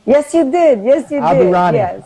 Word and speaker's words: Aburaneh: And I did get your name right, didn't I, when I pronounced your name? Yes, you did. Yes, you Aburaneh. did. Yes. Aburaneh.